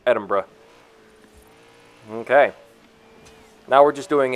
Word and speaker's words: Edinburgh: way its Edinburgh I figured out how to pronounce it it's Edinburgh okay now we're just doing a bit of